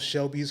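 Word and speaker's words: Chelby's: It's called Shelby's Heroics. Yeah. It's spelled CHELBYS. Heroics is spelled HAIROICS.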